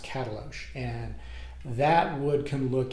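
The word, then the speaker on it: Katalox: wood called catalo uh k a t a l o x pronounced catalog and that wood can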